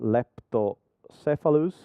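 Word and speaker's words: leptocephalus: the first row from the eggs they become lepto cephalus correct correct pronunciation very good thank you and then they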